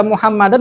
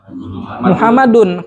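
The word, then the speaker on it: مُحَمَّدٌ: Ini kata Muhammad, asalnya kita baca Muhammadan apa Muhammadin? Muhammadun. Kenapa? Hukum asal. Hukum asal itu pasti dhammah.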